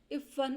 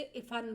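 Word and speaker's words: इफ़्फ़न: और वह यह भी बता रहा है कि जो टोपी शुक्ला था वह कभी भी उसके नाम का सही प्रोनाउंसिएशन नहीं करता था। वो उसे इफान बोलता था। इफन को इस बात का बुरा लगता था क्योंकि उसका नाम ठीक से नहीं बोला जा रहा है।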